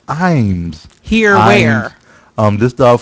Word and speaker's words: Iams: after upset so oh someone said here it's pronounced Iams here where um this dog food brand Imes founded by Paul F ions is pronounced I Dash m-z Iams okay who says this this is Cajun you